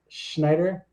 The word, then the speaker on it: Schneider: Today I'm here with the amazing and I'm going to get this last name pronounced right, Schneider.